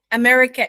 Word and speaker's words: America: doctor yeah and also the word America itself has two schwa sounds H at the beginning America America yeah okay uh you can